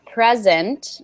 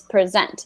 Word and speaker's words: present: noun okay so um if it were a noun would be a present so emphasis on the first syllable and for a verb it's present like you just said